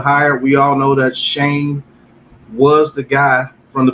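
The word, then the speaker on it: Schoen: be talking about the new gm mr joe sean shane shane shane finally got to be able to pronounce his damn name right welcome to the new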